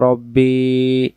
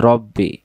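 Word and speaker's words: رَبِّي: সাকিন চিহ্ন আল্লাহুম্মা আনতা রব্বি লা ইলাহা ইল্লা আনতা এই যে রব্বি রাব্বি পড়বেন না তারপরে খলাকতানি খালাকতানি হবে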